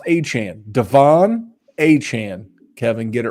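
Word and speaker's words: Achane: got to be up stock up and it's pronounced aan Devon hhan Kevin get it right you're the producer you should have told me Devon hhan Adam shf tweeted it that's the thing even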